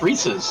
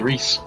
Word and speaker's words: Reese's: like you don't say reese it's reese's and they showed me the package and i was like okay drew canada apparently they decided it's gonna be rhys huh and to anyone